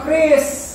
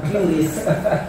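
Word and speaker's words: QRIS: Makanya terang protes soal kris, terang protes soal gerbang pembaran nasional gitu loh. Karena bacaknya itu Kris ya, bukan curis bacaan ya.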